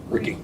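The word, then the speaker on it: Ricci: It's pronounced Rick. Ricky.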